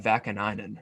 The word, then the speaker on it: Vakanainen: I know they got Vakanainen or Vakan, whoever the hell you say his name. You got it right the first time. I'm actually shocked.